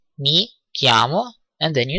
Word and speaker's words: chiamo: You have noticed that kiami or chiamo, which is written chi, is pronounced k.